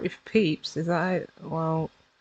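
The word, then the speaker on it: Pepys: Unless you know that and know them as a diarist and how to pronounce their name, the way it looks doesn't sound anything. Well, you'd think it wouldn't sound anything like Peeps, so I'm really not happy with that one.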